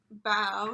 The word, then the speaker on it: bao: And this cat here is telling us bow should be pronounced like bow. You bow to someone in greeting, and not like bow that you wear in your hair, like a bow tie.